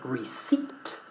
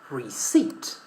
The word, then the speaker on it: receipt: In the word receipt, receipt, the letter P is not pronounced.